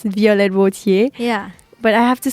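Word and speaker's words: Violette Wautier: English mm-hmm she's like I always know how to pronounce it in French you know this is like my real name it's violet would hear yeah but I have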